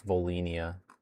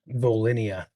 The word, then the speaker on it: Volinia: Someone says it's Volinia. Vinia. Volinia.